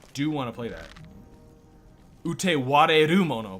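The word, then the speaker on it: Utawarerumono: Do you mean Utaware Mono or something? I do want to play that. Utewareru Mono, by the way. I fucking got it wrong. There's an extra syllable in there.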